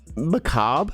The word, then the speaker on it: macabre: I read it but Macabre I think there's like a yes but you don't say the r it's like that makes